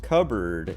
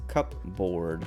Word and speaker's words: cupboard: like what's it like blackboard is pronounced blackboard um but cupboard is cup board but you pronounce it cupboard uh and this was